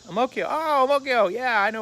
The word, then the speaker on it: Ang Mo Kio: I'm like, I'm not thinking that Ang Mo Kio is Amokyo. But he pronounced it that way. Amokyo.